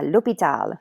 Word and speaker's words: l'hôpital: word in French okay and the H at the beginning is silent it's not pronounced okay so read the damn car Lupita yeah l'hopital me exact okay so